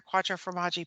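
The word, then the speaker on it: Quattro formaggi: formanji at Vienna Poli hmm I love their Quattro for Maji Pizza so so good okay good how do you spell that q-u-a-t-t-r-o-f-o-r-m-a-g-g-i it means four cheeses that's what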